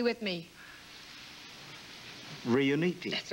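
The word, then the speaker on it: Riunite: Now, pronounce it correctly with me. Riuniti.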